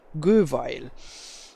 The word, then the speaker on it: Göweil: problems to pronounce it is the correct German pronunciation maybe the people from Austria pronounce it a little bit different but it's still correct to say Google and the manufacturer is